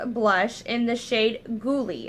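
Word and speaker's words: Goulue: and in the shade ghouly I think that's how you pronounce it g o u l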